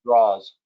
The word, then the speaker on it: Draw: I'm mispronouncing it d r a w he pronounces it draws draws thank you Greg thank